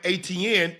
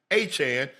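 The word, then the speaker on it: Etienne: They were calling him ATN at Clemson, but it's Travis Achan Jr.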